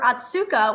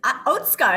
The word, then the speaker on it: Otsuka: surprise of learning that atsuka is really pronounced oatsuka i mean there's a